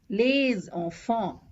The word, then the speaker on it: les enfants: So this will be pronounced as des amis, des amis, les enfants, les enfants. So we do a liaison and it is one single S. It has the Z sound.